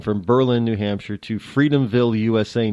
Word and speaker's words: Berlin: It even goes so far that we don't even call Berlin. It's Berlin. I'm not joshing you on that at all. It really is Berlin.